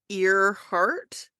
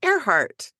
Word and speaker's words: Earhart: realized with her last name because it's spelled like ear heart but you pronounce it aart and she loved flying in the SK guy